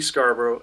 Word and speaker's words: Scarborough: Her name is Suzy Scarborough, and you put a .com on that. Suzy is spelled S-U-Z-Y. Scarborough, just like the fair, S-C-A-R-B-O-R-O-U-G-H.